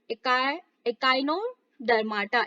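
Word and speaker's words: Echinodermata: Okay, एश हेल्मिन्थिस, Platyhelminthes, उसके बाद आपको आ जाएगा एनिलेडा, आर्थ्रोपोडा, मॉलस्का, और अभी प्रोनाउंसिएशन ध्यान में रखिए, एकाटानोडर्माटा, एकाइनोडर्माटा, एकाइनोडर्माटा, एंड लास्ट वाला जो रहेगा आपका हेमिकॉर्डेटा, एकाइनोडर्माटा, हेमिकॉर्डेटा।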